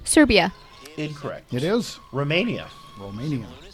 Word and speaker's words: Romania: Romania. And you have to say it with when you roll your Romania. R. You have to roll your R on that one.